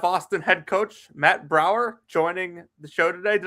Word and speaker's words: Braeuer: Austin head coach Matt Braeuer joining the show today. Did I pronounce that right, Coach? Close enough. It's like Braeuer's ice cream, so Braeuer.